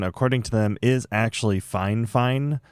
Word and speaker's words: FIFINE: Quick editor's note, it turns out the correct pronunciation according to them is actually Fine, not Fifine.